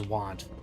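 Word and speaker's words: wont: Won't mean means accustomed to and is pronounced as want.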